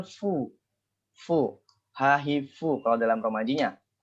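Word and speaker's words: ふ: Di huruf H, di baris H ya, di baris A kolom U, itu bukan hu melainkan fu. Fu. Hahifu kalau dalam romajinya. Kita buatnya itu fu.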